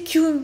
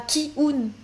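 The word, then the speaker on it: キュン: on voit l'écriture française, parce que c'est écrit Ki-O, t'as envie de dire Ki-un, mais en fait, en petit en japonais, ici, c'est écrit en katakana Kyun. Donc en fait, il faut prononcer Kyun et pas Ki-un.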